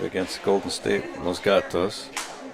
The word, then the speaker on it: Los Gatos: 5 against Golden State Los Gatos I've heard people who live out there pronounce it like it's goddess or something like that something like that but it's Spanish it's Los Gatos the cats the cats